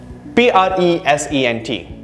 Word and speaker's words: present: Notice the stress on the second syllable there.